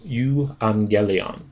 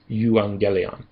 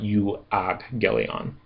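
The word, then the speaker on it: εὐαγγέλιον: And that's because with gamma, if it's followed by another gamma or it's followed by something that sounds like a c, it should instead be pronounced as an n.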